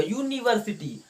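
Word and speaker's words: university: Pronunciation यूनिवर्सिटी का ये होगा, यू से चालू होगा यूनिवर्सिटी।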